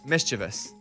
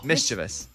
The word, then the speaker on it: mischievous: yeah mischievous but that's not the answer it's mischievous really i say misdeviate it's got to be the way this person yeah that's got to be the rule yes this is the official pronunciation mischievous wow okay leaving money on the table man